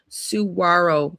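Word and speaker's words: Saguaro: The way we pronounce it is Suarro National Park.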